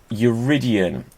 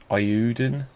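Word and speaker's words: Eiyuden: Now, Uridian, no, that's definitely not how it's pronounced. There's no R in it.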